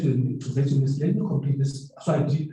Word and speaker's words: Wits: I hear you saying Wits, actually, we pronounce it Wits University.